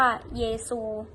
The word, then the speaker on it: เยซู: ออก เสียง ว่า คริสตัง ตัว อย่าง Jesus ก็ ออก เสียง ว่า เยซู ซึ่ง ทำ ให้ คาทอลิก